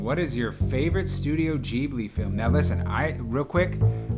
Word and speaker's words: Ghibli: Now listen, real quick, I like to say Studio Ghibli because that's how that word is actually pronounced. But they like the way, because it's based on like some Italian plane, but they like saying Ghibli.